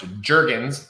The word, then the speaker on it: Juergens: last name is pronounced Jurgens like the lotion okay uh but it does have an extra vowel in it so you know I